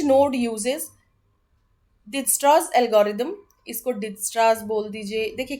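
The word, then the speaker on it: Dijkstra: Root calculation क्या है, each node uses डिजस्ट्रास algorithm, इसको डिजस्ट्रास बोल दीजिए। देखिए के अकॉर्डिंग टू मी मैं तो के साइलेंट रखूंगी इसको, डिजस्ट्रास कोई डिजकस्ट्रा बोल सकता, कुछ भी बोलिए, ठीक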